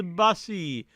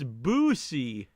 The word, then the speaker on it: Boosie: Jonathan Jackson, Tazo acting like he doesn't know how to pronounce Bussy. It's Boosie.